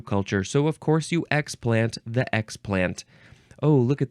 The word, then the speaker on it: explant: of xplant which um it looks like you emphasize the first syllable xplant the uh first form form we emphasize the second syllable so xplant is a